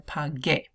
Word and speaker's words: pagué: So to keep that hard G sound, you're going to put the U in there. It's not going to sound, you're just going to make the hard G sound in there, pagué.